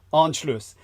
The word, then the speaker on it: Anschluss: It was called the Anschluss. Am I pronouncing that correctly? A-N-S-C. The Anschluss, yeah. Anschluss.